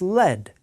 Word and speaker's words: lead: them first the noun lead sounds like the noun head and you don't want